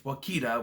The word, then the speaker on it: Wakita: rips through Wakita, which I always thought that it was Wichita, and they were saying it wrong, but apparently it's Wakita, which I don't know if it's a real place or not.